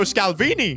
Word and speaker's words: Scalvini: And that was quick, because I've just found Giorgio Scalvini. His name rhymes with Chiellini.